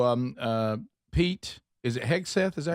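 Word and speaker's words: Hegseth: Uh and so, um uh Pete, is it Heg Seth?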